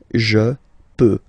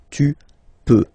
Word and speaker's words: peux: Final X not pronounced here, okay? So you've got X, but you don't pronounce it, so basically you get the sound peut, je peux, okay, so I can, je peux, okay. Then tu peux, same pronunciation and same spelling or writing, okay, P-E-U-X, okay, don't pronounce the final X.